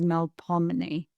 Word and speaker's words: Melpomeni: I think you, Melpomeni, is it, where do you put the accent on that? For an English speaker, the easiest way to remember and to pronounce it is Melpomeni. Well, Melpomeni. Melpomeni. Because it's closer to the English language that way.